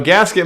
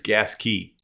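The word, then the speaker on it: Gasquet: H So gasket mike, the proper way to pronounce that is gas key.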